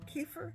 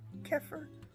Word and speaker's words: kefir: kefir drinking oh and there are three ways to pronounce that kefir Keir or cfir however you pronounce it I pronounce a kefir that's just what rolls